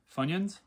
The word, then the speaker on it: Funyuns: it's the same flavor f-u-n-y-n fun rhymes with yun funyun fun yin would suggest